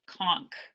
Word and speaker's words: conch: Sorry, I used to live in the Bahamas, and in the Bahamas they call it conch. They pronounce it that way, although it's spelt that same way.